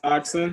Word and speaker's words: Oxyn: Soft Fed or It's Oxen. Oxen? Oxen, yes, sir. How do you spell that?